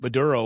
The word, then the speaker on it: Maduro: I mean you know it's like um I I don't I know that um Maduro was is that that's how you pronounce? Yeah. Maduro.